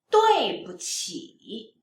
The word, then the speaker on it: 对不起: When we put 不 between 对 and 起, then this 不 you need to pronounce lighter and softer, so it becomes neutral tone. 对不起, 对不起 means sorry, sorry.